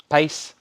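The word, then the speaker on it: Paice: pace how do you say his last name pace 999 malice in wonderland sold to richard davis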